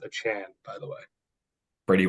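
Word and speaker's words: Achane: off last week yeah it's a Chan now he wants everyone to pronounce it as a Chan by the way do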